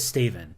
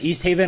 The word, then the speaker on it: East Haven: He says Staven. That's Yeah. awful. And when he actually says East Haven, I'd say no, say it correctly.